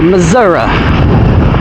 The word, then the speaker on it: Missouri: Louis, Missouri. Or Missouri, as my cousins pronounce it.